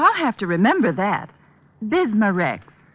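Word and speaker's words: Bisma-Rex: have to remember that bismar Rex is that how you say it that's right ma'am b i s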